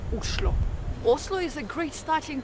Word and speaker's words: Oslo: of Norway and actually in Norwegian the right way to pronounce the name of the capital is uslo Oslo is a great